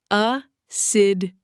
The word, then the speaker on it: assiduous: Assiduous, pronounced a-sid-u-us.